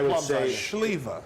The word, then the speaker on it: Sliwa: Schlieva.